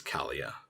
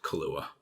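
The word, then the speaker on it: Calia: pronouncing that name but Kalia in-game does say my name is Kalia not Kahlua so Kalia returns in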